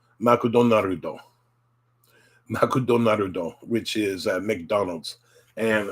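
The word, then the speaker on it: マクドナルド: It would be put into katakana, and it's pronounced makudonarudo.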